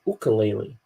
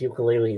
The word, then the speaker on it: ukulele: But he calls it ukulele. sure. You don't pronounce it, he says you don't pronounce it as ukulele, it's ukulele. Ukulele. Ook, ook.